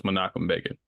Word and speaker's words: Menachem Begin: You will hear me say it wrong throughout the episode, but so it's Menachem Begin.